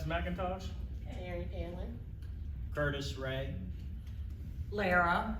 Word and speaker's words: Lara: Aaron Allen, Curtis Ray, Lara, rhymes with Sarah.